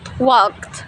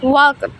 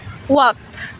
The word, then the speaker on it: walked: We don't read walked. The correct thing is walked. Pronounce it walked. As if the ending were a T, walked, and we don't read jog, jogged.